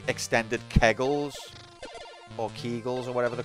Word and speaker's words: Kegel: Maybe it's like extended kegels.